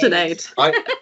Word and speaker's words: Sinead: Yeah, Maybe starting with you, Sinead. Sinead, sorry. Lemonade, Sinead, Sinead. like lemonade. Sinead.